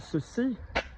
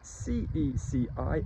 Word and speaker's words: ceci: So we've got ceci and cela, C-E-C-I and C-E-L-A. Let's be very clear as well, C-E-L-A, cela, and C-E-C-I, ceci, are pronounced the same as C-E-U-X-C-I and C-E-U-X-L-A, the ones that we've